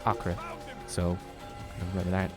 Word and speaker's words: Acre: had and apparently yes it is it is pronounced Acra so rather that it's not acre run forever I'll HT you down my daring